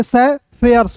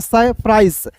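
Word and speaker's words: sapphires: एस तो पढ़ेंगे दोस्तों से यहां पे देखिए से फेयर्स पढ़ेंगे।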